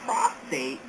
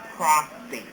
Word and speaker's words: prostate: for example we have two words here prostate and prostrate the term prostate refers to the gland at the base of the male bladder prostate as this refers to the land at the base of the male bladder the next term is prostrate this is pronounced prostrate this means to be